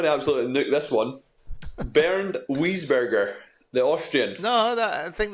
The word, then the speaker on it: Bernd Wiesberger: You've mispronunciated pronunciation. Yes, so I'm going to absolutely nuke this one. Bernd Wiesberger, the Austrian.